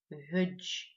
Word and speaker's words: ведж: Итак, двое на абазинском языке ведж, ведж. Да, легко. Ведж.